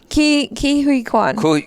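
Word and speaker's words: Ke Huy Quan: Ki Hui Kwan.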